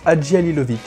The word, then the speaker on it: Hadzihalilovic: Deuxième long métrage de la réalisatrice, monteuse, scénariste et productrice Lucile Hadjialilovic. Ça se prononce Hadjialilovic.